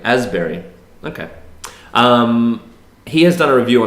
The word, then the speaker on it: Asbury: Ashbury? Actually, it's spelled Clay Asbury. Asbury.